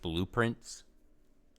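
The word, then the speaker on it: Blue Prince: It's called Blueprints. And it just seems really cool. A very cool concept. Blueprints. But it's spelled prince like royalty. Blueprints.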